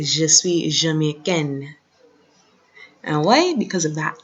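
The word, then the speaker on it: jamaïcaine: When the E is added, the N is pronounced more, I should say.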